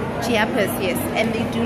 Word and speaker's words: Chiapas: But how do you pronounce this? It's Chiapas. Chiapas, yes.